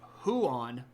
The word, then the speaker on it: Huan: on it's not yeah so who on it's two syllables and Juan is one syllable um so Juan is a Spanish name huan is the the name of the big wolf hound that died to